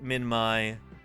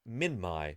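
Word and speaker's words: Minmi: you would like but the Australians pronounce it minmai because it is a geographic name and I said oh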